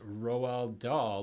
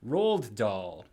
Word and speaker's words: Roald Dahl: But incidentally, fellas, for years I pronounced Roald Dahl like Roald Dahl.